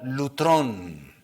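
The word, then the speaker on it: λύτρον: La doctrina de la redención, la palabra que se usa en el griego es una palabra que se puede pronunciar lutrón, que significa un precio,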